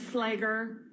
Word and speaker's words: Fleger: Emily Fleger, social worker. Thank you. And it's pronounced flagger.